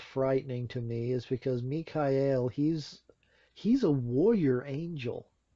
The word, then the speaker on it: Michael: be Michael for me que el me calle el I suppose would be the actual pronunciation of his name nee Kai el Archangel